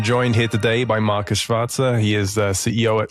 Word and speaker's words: Schwarzer: So I'm joined here today by Markus Schwarzer.